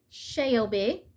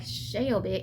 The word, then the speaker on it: Shelby: So you can't say Shelby, you have to say Shelby.